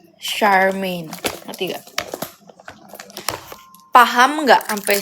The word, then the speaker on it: Charmaine: CH-nya itu dibacanya SH. Jadi Charmaine.